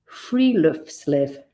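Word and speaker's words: friluftsliv: learned but you might have been embracing - 'firiluftliv'. It is spelled f-i-r-i-l-u-f-t-s-l-i-v and it's the Nordic concept of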